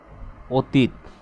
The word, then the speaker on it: অতীত: নাম নাম বিবৃত উচ্চারণ আবার যদি বলি আমরা যদি বলি কি যে অতীত দেখেন তো অতীত এটা কি অতীত আমরা কি উচ্চারণ করি অতীত এভাবে উচ্চারণ করি নো এভাবে আমরা উচ্চারণ করি না আমরা উচ্চারণ করি